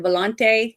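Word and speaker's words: Volonté: But the other thing that was better is I could see that the actor that played, is it Volonte? Is that how you pronounce Mhm.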